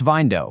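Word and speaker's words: Vyndow: That's Vindo, pronounced just like Window, but spelled V Y N D O W.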